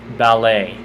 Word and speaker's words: ballet: Ballet. Because it's just, that's French and that's how you pronounce it.